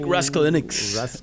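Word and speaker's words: Raskulinecz: Nick Raskulinix, is I believe how you pronounce Nick's last name correctly.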